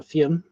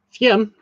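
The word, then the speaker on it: Fionn: Uh fian fen fian that one's really weird but yeah f i o n finn is just f i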